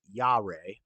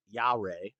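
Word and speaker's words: יה: spelled y i ah is pronounced yah not Yahweh yah um what kind of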